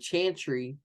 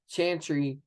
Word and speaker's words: Chantry: was a guy named Chantry not change it doesn't rhyme with Gentry Chantry and uh um that